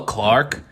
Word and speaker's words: Clarke: Hello, Clark, with an E, even though adding the E doesn't change the pronunciation at all.